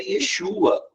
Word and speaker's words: Yeshua: tá usando Cristo mas não era assim que eles pronunciavam o nome dele era Yeshua eu acho lindo esse